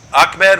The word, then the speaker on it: Ahmed: name is Achmed is it a med or Achmed hard k how do you pronounce it up frozen Achmed with a hard K we use froze up